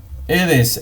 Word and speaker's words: Aedes: Aedes, en latín, la A con la E se pronuncia como si fuera solamente E.